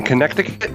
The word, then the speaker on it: Connecticut: okay so Jim says do you pronounce the Middle Sea in Connecticut or do you skip over overi I actually do not pronounce it uh my wife says I do let me try connect